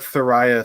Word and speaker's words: Thoraya: Maybe the Thoraya thing. Oh yeah. With the girl. What's the last name? It's like her actual name. I bet if you just search Thoraya, it's spelled like it sounds.